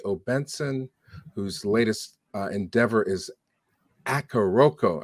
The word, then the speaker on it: Akoroko: whose latest Endeavor is akaroko am I saying it right sir it's cool close enough man akuroko all right well we